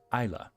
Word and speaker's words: Isla: Also, my name is pronounced Isla. I'm Scottish. Oh, Isla.